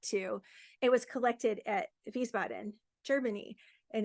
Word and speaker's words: Wiesbaden: It was collected at Wiesbaden, Germany, and it's spelled W-I, but the W in German is pronounced V, so Wiesbaden.